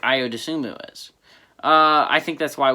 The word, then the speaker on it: Ayo Dosunmu: Ayo Dosunmu, I pronounced it right.